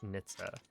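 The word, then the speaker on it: NHTSA: So, And apparently it's pronounced Nitsa.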